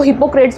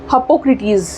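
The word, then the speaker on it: Hippocrates: Straight forward नाम है, ऐसा लग रहा है जैसे इसको हिपोक्रेट्स बोलेंगे। इवन कई बार मैं भी इसको हिपोक्रेट्स ही बोलती हूँ क्योंकि बहुत इजीली साउंड करता है, बट the correct pronunciation is हिप्पोक्रेटिस।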